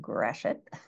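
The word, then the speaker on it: Gratiot: plat mats that are digitized I searched for gret County Michigan and yes g t IO T is pronounced gret um which is the county where I was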